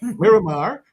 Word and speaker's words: Miramar: we have commissioner Maxwell Chambers and he's from Maramar Florida yeah you give give me the proper pronunciation mirar Miramar Florida okay so he's going to come in